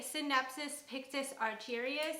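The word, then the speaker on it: Scindapsus pictus argyraeus: Okay, so this is the Synapsis Pictus argyrius, I believe is how you pronounce it, also known as satin pothos.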